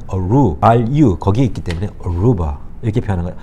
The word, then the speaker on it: Aruba: 들어서 아시겠지만 루바라는 단어의 액센트는 Aru, R-U 거기에 있기 때문에 Aruba 이렇게 표현한 거예요. 아루바가 아니고 Aruba.